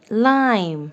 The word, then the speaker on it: lime: So what is the correct pronunciation? I lime.